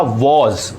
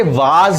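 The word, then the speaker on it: was: For example मैंने कहा वॉज, अब बहुत से स्टूडेंट्स या बहुत से लर्नर्स इसे वाज भी कहते हैं, ये एक गलत प्रोनाउंसिएशन है। तो सही प्रोनाउंसिएशन क्या है, वॉज।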